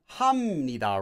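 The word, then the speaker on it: 합니다: this before like you you all know this is pronounced as hamida right? Well when does that happen? Why does that happen? Well anytime you have this letter or this sound plus either of the nasal consonants.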